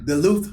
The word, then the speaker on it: Duluth: johnson michael all right atlanta georgia how you pronounce bill duluth duluth yeah duluth george georgia yeah all right man appreciate it